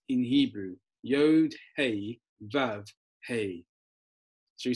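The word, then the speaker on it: הא: then you've got there hey and it's just like hey you're doing over there the same way you pronounce it that's the H so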